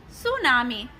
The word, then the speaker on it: tsunami: Tidal or storm waves are also known as tsunami, pronounced सुनामी। तो जो टी है इस साइलेंट रहता है।